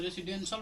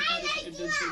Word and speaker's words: रेसिडेंशियल: आर ई से रे तो भाई साहब यहाँ पर लिखेंगे रे, एस से सी तो रे सी, यहाँ पर डी से डे तो डेन, यहाँ पर सी हो गया तो रेसिडेंशियल बोलेंगे, रेसिडेंशियल बोलेंगे।